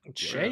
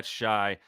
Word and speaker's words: Shai: and he tweet TW he quote tweeted it himself with shy in quotation marks yeah man I've heard